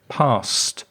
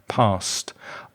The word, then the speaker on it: passed: congratulate you as well be careful of the pronunciation of past the past tense of the verb to pass it sounds like the ed sounds like a t sound like a t sound past past i passed my exam